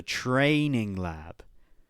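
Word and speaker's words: Treigning Lab: He's in the US and he's training at a place called the Training Lab, but it's spelled T R E I G N I N G.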